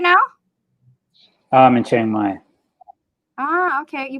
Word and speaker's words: Chiang Mai: being pronounced together and the chiang in chiang rai in chiang mai is one of these sounds and it's already in